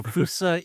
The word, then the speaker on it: Foossa: story of how we ellighted on the correctly pronounced Fousea? Indeed. Yeah. So, Fousea is we're named after an animal from Madagascar.